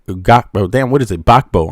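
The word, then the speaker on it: Gbagbo: Bakbo, I'm sorry. That's how you pronounce his name. Bakbo, right?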